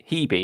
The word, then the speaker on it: Hebe: He's teaming up with Mel and Hebe, isn't it? That's how that one's pronounced.